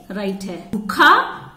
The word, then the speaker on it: भूखा: झूला त्रिशूल त्रिशूल त्रिशूल यह भूखा भूखा का उच्चारण करते समय ज्यादा नहीं खींचते हैं भूखा भूखा है कि जिस राइट कि